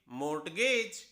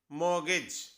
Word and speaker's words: mortgage: Next word है MORTGAGE, होना चाहिए मोर्टगेज। हमने आमतौर पे देखा है हमारे किसी वर्ड में कोई लेटर, कोई अक्षर साइलेंट हो जाता है, लेकिन ये जो हमारे सामने अभी वर्ड है इसमें दो लेटर, हमारे दो अक्षर साइलेंट हैं, R और T। इसकी सही प्रोनाउंसिएशन है मॉर्गेज, मॉर्गेज, जिसका मतलब होता है गिरवी रखना।